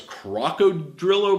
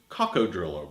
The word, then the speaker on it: coccodrillo: I'm making the bread sometimes I call this Krakow trillo bread the correct pronunciation is kako trillo bread but at any rate this bread is